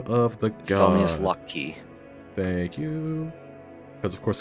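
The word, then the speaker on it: Loki: and it's lock key for the god of traps and also you could alternatively pronounce it low key okay that's fun actually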